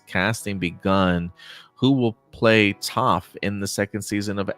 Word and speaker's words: Toph: And they have this funny joke where there's this giant muscular man playing Toph, and he's like, "My name is Toph because it rhymes with tough."